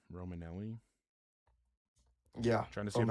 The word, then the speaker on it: Romanelli: How do you spell it? R-O-M... R-O-M-A-N-E-L-L-I.